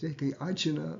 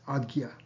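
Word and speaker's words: आज्ञा: So a lot of times people mispronounce it, Ajna, but it's Agya.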